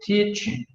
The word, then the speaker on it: teaching: O G não se pronuncia. Você faz como se fosse falar o G, mas não fala.